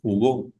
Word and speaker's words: jugó: la palabra jugo y si le pongo un acento a la o eh a la O sería jugo y saber voy a saber entonces que esa palabra la voy a pronunciar con la mayor fuerza de voz al final y digo jugó y si no le